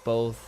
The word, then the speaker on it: both: I noticed how kids pronounces with an L. Both.